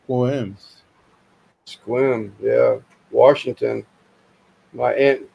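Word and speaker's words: Sequim: We have Squam pronounced Squims.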